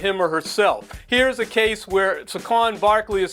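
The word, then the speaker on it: Saquon: so let's Champion that very interesting second syllable emphasis on Sequon Barkley there uh buy orell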